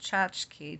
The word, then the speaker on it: tchotchke: I don't know if that's pronounced tchotchke to rhyme with botchthi, and tchotchkela to rhyme with tchotchkela.